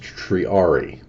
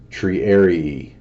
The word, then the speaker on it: Triarii: millimeters, cloud chasing, and it's pronounced Triarii, in case anybody's wanting to know. I just looked it up online. I don't know if it'll come up over the speakers or not, but how to say Triarii. Triarii. Oh, sorry, Triarii. Hold on, one more time. Triarii. Triarii is the proper pronunciation.